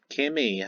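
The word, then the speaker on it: Kiwmi: first episode on the series um um yeah Kimmy her name is spelled as k i w m i yeah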